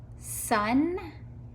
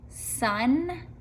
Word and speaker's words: son: to these three words son months and wonder do they all have in common son months and wonder what do you think they all have a short u sound don't they son hmm under